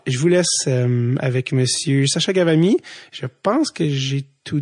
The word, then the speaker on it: Ghavami: Le H cause beaucoup de problèmes. Les gens, ils savent plus trop comment le prononcer avec le H.